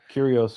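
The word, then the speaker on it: κύριος: Um, did they ever I I think the Greek word is curios which is lord. Curios or curios depending on your Greek dialect.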